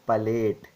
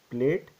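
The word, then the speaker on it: palate: oral cavity and nasal cavity is called as Pate it it is not pronounced as plate it is pate clear and this one is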